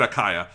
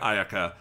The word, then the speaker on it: Ayaka: got both his names wrong it's yoimia and ayaka didn't i say ayako no you said like hanukkah or some no i think i said akaya but i meant ayaka uh honomia i got totally wrong i'm sorry